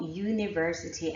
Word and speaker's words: university: don't follow this rule what about University and umbrella both begin with you right but I'm not so